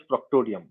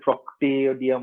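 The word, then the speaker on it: proctodeum: Okay, the spelling is proctadium or proctadium, but we actually pronounce it as proctodium. But you can call it proctadium or proctadium as well.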